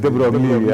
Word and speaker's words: de Broglie: that if you write Gajendra Gadkar, its French pronunciation could be Joshi. So, I mean, and de Broglie, I say it's de Broglie.